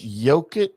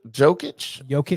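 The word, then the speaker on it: Jokić: his name Nikolai jokic is it yogic jokic or is it why like it's not jokic right it's jokic even though apparently they call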